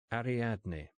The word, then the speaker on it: Ariadne: Ariadne. Easy. Four pretty syllables.